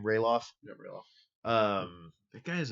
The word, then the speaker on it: Ralof: But it's a pillowcase with how do you pronounce his name? Ralof.